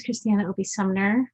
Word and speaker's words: ChrisTiana ObeySumner: important colloquium good evening hello my name is christiana obi sumner i'm pronouncing i am owner and principal consultant of